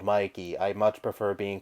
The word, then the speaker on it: Mikey: please pronounce it correctly it is not Mickey it is pronounced Mikey I am not a Mouse